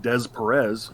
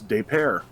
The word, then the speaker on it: Des Peres: They don't pronounce it Des Perez. It's Des Peres.